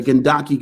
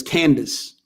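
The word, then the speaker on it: Kandake: queens to ever exist the kendaki queens uh i think the greek or the roman uh translation is candace candice so you might have heard that pronunciation candace but from 300 bc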